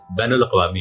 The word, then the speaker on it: بین الاقوامی: طور پر ایک لفظ بین الاقوامی ہے، بین کے نون پر زبر ہے، مگر اردو کے